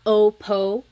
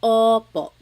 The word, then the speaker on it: opo: Sometimes I think of it like having a ball in your mouth. Your tongue gets kind of pushed back and down a little bit and the inside of your mouth is open and wide. So Oo, like oppo Oo. It's not OPO, it's OPO.